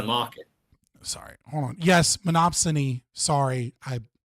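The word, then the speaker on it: monopsony: My chat is like giving me for saying monopsiny and monopsy instead of monopsin.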